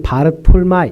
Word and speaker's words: 바돌로메: 두 번째로 이름이 아닌 사람이 있는데 그 사람이 바로 문제의 바돌로메라고 하는 사람입니다. 바돌로메. 사실 이 바돌로메는요, 이름이 아닙니다. 이게 정확한 뜻은요, 돌로메라는 사람의 아들, 이런 의미입니다. 그러니까 정확한 발음으로는 바르톨마이 이렇게 얘기합니다.